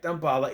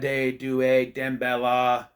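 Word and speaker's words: Damballa: __ ] name right it's dumala right dumbala even dumbala himself calls it dumbala you know Tiffany goes dumbala it's dumbala but in the ad demella and even the uh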